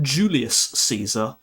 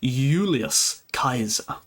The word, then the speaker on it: Julius Caesar: it's like pronounced as Y, like a U. So, it's not Julius Caesar, it's Ulius Kaiser.